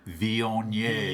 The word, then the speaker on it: Viognier: So listeners, what he's doing is taking his left index finger to his left nostril, preparing to pronounce in a very French fashion, Viognier.